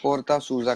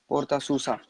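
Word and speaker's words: Porta Susa: पोर्ता सूजा कहते हैं उसको, PORTASUSA, पोर्ता सूजा। इंग्लिश में अगर प्रोनाउंस करें तो बनता है पोर्ता सूसा।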